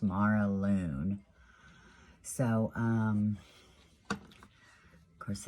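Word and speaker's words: Maralunne: restoration deck okay my next deck is the mara loon and it's m a r a l u n n e but she says on her website it's pronounced mara loon so um of course it's not in order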